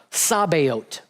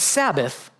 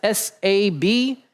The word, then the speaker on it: Sabaoth: And the Lord of hosts is Yehovah or Jehovah Sabaoth. Not Sabbath, but Sabaoth. If you want to spell that, it's Sabaoth.